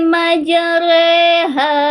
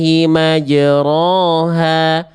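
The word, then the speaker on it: مجراها: Kalau di sini teman-teman masih ada yang nanya kenapa sih dibacanya enggak bismillahi majroha? Kan ada fathah tegak harusnya ro dong. Kenapa jadi merengmeng miring miring ke e? Nah, ini ada namanya tanda imalah. Nah, tadi udah dicontohin nih sama Bunda Riani nih ada tulisan imalah ya. Imalah itu artinya dibacanya antara fathah dan kasrah. Jadinya tengah-tengahnya e kayak e.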